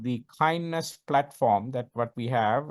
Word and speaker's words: KINDNS: So if you want to actually follow the DNS, especially the security best practices, we have a framework called kindness, right? It is spelled as KINDNS.